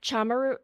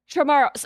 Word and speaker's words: Chamorro: And also, you mentioned you have Chamaru. Did I pronounce that right? Chamaru? Tomorrow. Chamorro.